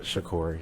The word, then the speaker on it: Shakur: Shakur, yeah.